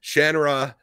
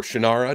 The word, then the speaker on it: Shannara: hear us talk about shannara or shinara depending how you prefer to pronounce it uh we'll be